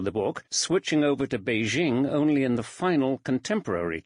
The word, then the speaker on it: Beijing: in the sense that Beijing is the correct pronunciation of the name in Mandarin Chinese however to refer to